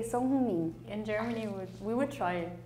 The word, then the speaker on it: Son Heung-min: In Korea, you say Sonheung-min. Japan, we say Song Heung-min. Yeah, it was pretty close, but I think other countries tend to pronounce Heung as like Hu or Hyu.